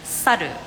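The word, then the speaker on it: さる: the reason why is because in Japanese monkey you pronounce it as saru and if you paint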